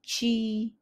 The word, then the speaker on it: ci: videos thank you again the best way to pronounce the chi sound in Polish is simply to say it as the English chi chi let me give